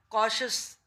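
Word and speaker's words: cautious: TIOUS, कॉशस, ये शश की sound आएगी।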